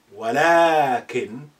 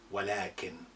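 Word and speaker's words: وَلٰكِنْ: You say walakin, but you write walakin without lengthening alif. But you have to say it like this, walakin, but you don't write it with lengthening alif.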